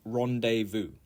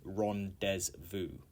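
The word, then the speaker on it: rendezvous: okay number 11 is Rondevu Rondevu and uh this I think is probably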